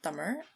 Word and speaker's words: Tamil: Tamil, so Tamil, spelled Tamil, but pronounced Tamil.